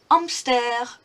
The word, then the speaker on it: hamster: Un hamster. Un hamster. Remember that the H is silent in French if it's at the beginning of a word.